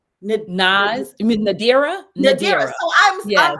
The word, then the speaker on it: Nadira: with nas NS you know what I've said Nas for so long because Nas is your it